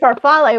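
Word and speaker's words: farfalle: Then you could screw up and say parfal which is the Italian way to say it but it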